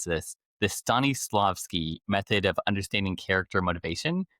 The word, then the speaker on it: Stanislavski: The Stanislavski method of understanding character motivation translate to audience personas and content strategy. It's everything. So, it's Stannislovski.